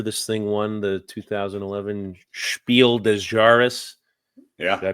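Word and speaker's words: Spiel des Jahres: it no wonder this thing won the 2011 spiel dejaris yeah did I pronounce that right perfect spot on but yeah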